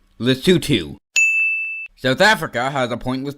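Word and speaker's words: Lesotho: an island it's The Gambia it's pronounced lutu South Africa has a pointless line going through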